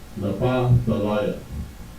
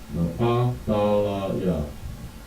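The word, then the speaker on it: נפתלי: So in Hebrew, this is how you would write it out phonetically. And it's pronounced Napa Thalaya. Napa Thalaya.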